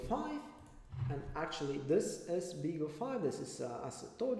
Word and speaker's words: BeagleV: similar fashion as risk five and but it's pronounced bigger five it is advertised as uh the first affordable